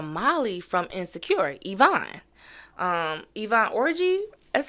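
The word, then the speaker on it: Yvonne Orji: was married to Molly from insecure Ivonne um Ivan orgy that's how you pronounce her name I just know her as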